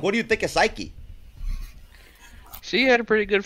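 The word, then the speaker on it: Saiki: The lead singer, that is a goddamn beast, is Psyche. I always hope I pronounce that correctly. It's spelled S-A-I-K-I, and I cannot think of any other way to say it but Psyche.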